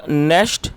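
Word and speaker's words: gnashed: एंड नेस्ट his teeth, और दोस्तों जी silent नेस्ट his teeth, और उसने अपने दांत पीस लिए।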